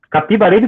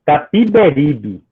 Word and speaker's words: Capiberibe: Capibaribe com A, como sempre tinha ouvido dizer no Recife. Fiquei perplexo quando o Veríssimo comentou, para grande divertimento da turma: bem se vê que o senhor é um pernambucano. Pronunciou pernambucano, abrindo bem o E. E corrigiu: Capiberibe.